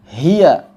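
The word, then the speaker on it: هي: belakang atau ketika wakaf sebagian orang membacanya dengan menambahkan Hamzah misalnya Hi menambah Hamzah Hi atau kemudian memanjangkan hi ya seperti itu hati-hati hanya dua harakat saja Hi tidak direm secara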